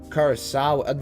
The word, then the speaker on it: Curaçao: Curaçao. That's how you pronounce the island.